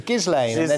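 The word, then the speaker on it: Ghislaine: is the trial of zizlane maxwell josh what is the guardian he's impressed with respect for getting i googled how to pronounce it it was gizlane it's a french name well and you want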